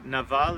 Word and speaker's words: Nabal: sheep so the man's name was nabal or Naval in Hebrew they spell it with a B in English and his wife's name